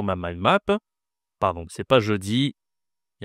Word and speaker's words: jeudi: 4e jour de la semaine, c'est jeudi. Jeudi. Alors, ici, tu as la voyelle e je dis. Et ici la consonne c'est je je dis.